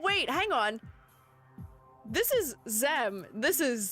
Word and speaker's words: Xem: Is that Zem or Ze? Oh, wait, hang on. This is Zem. This is Zay. Yes. Yeah. XEM is Zem. XE is Zay, because we're pronouncing the E as an A almost.